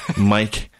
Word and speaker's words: Myc: sure calm I guess then but my name is spelled Mike my C and that is Mike but I just Jimi Hendrix belted jr.